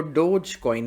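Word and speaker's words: Dogecoin: अच्छा, इसको डोजी कॉइन नहीं कहते, इसको डोज कॉइन कहते हैं।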